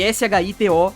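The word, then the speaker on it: 使徒: Se escreve S-H-I-T-O, Shito.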